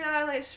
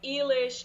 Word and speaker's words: Eilish: i got everything um i got like eelish english was the most common english i got elish i got alice i got alicia i've